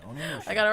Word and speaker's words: Onimusha: Onimusha.